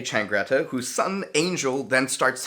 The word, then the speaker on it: Changretta: tommy's younger brother insults vincent trangreta i have to google how to say his name john insults vicente changretta whose son angel then